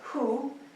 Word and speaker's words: hu: The next one is hu, like W-H-O, but again, it's spoken with the breath, and it connects to the spleen.